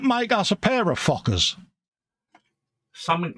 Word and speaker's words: Fokker: looking at the screen, trying to pronounce this correctly, we got a little Fokker.